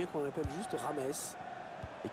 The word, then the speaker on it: James: Donc, il y a qu'on l'appelle juste Rames et qu'il faut surtout prononcer Rames, hein, c'est pas James, hein, comme on l'avait cru au début d'ailleurs.